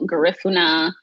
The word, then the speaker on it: Garifuna: So my family is Garifuna. I mean, that is the way you pronounce it. Is definitely like Spanish way. It's also Garifuna.